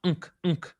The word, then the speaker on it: Ankh: So Ankh was actually pronounced Unk, N-K-H, not A-N-K-H, N-K-H, because the A, the vowel, wasn't introduced until later.